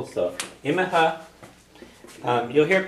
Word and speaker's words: Imithe: Imithe, yeah. Imithe or just Imi, depending on where you are.